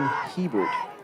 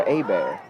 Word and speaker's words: Hebert: Oh, number 10, that's going to be Gavin Hebert or Abear.